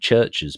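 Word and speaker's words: Chvrches: band really popular here called churches but it's spelled CH H VV God I can't spell myself CH h VV c h s so ches but it's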